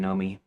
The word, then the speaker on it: Nomi: Readers who catch it might smile and at the wink rather than roll eyes pronunciation know me like long o like no clear and easy. No confusion there.